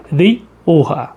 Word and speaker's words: Rioja: A gente se escreve como Rioja, mas a pronúncia que os espanhóis sempre utilizam é Rioja.